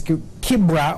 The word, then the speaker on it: Kibera: What has been making news, of course, based also on your conversation, is Kibra, or Kibera, depending on how you want to pronounce it.